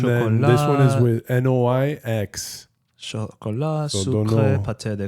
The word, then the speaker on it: noix: Noix.